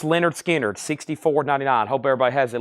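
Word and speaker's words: Lynyrd Skynyrd: Productions this is 100% analog mastering 45 RPM pronounce Leonard skinnard $64.99 hope everybody has at least one copy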